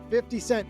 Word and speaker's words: 50 Cent: The question was, if 50 Cent, and yes, that's exactly how you pronounce his name, were paid his proceeds for his minority stake in the deal, all in 50 cent pieces.